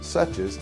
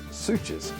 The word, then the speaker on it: Suches: Suches, pronounced Suches, not Suches.